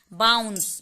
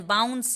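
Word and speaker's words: bounce: बात को एक बार फिर से समझिए कि ई के लगने से सी का उच्चारण बदल जाएगा, लेकिन ई का उच्चारण नहीं होगा, सी तक ही उच्चारण होगा।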